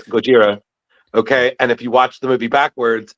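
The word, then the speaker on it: ゴジラ: tattoo and me I'm like uh actually it's pronounced Gojira. I'm that guy like like Carrie would say like I'm like it's Gojira.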